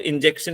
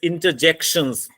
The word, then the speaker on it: interjection: It's not injection, it's interjections. Then we have the articles, helping verbs.